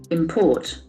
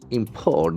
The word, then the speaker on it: import: it is a verb import import the actual force on the second syllable if it is a noun the actual force on the first syllable import import since it